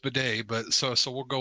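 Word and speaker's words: Badie: possibility we might get Tyler batty back or B how we pronounce it he says it's pronounced Bay but so so we'll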